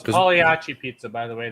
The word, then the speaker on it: Pagliacci: And Bill, it's Pagliacci pizza, by the way. The G is silent. Oh, Pagliacci pizza.